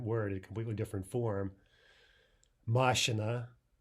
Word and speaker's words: машина: Машина, машина, that's the correct stress for car, and машина, машина.